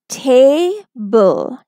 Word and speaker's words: table: So the pronunciation of the word will be table, table. A will say its long sound, right?